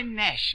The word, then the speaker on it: gnash: In the sentence, I gnash my teeth. Gnash is spelled G-N-A-S-H. And the G is silent preceding the N.